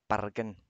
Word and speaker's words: Bergen: one up too yep-yep-yep pronounced balcan so and that's just norwegian that's not the actual bergen dialect pronunciation let's not move